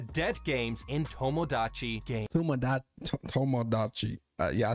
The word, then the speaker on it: Tomodachi: Tomodachi.